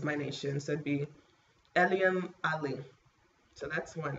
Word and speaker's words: Eliam: I say it Eliam, but my husband, since he speaks Arabic, he really knows how to say it better, and he says it's like Eliam. I think that's how you pronounce it, Eliam in Arabic.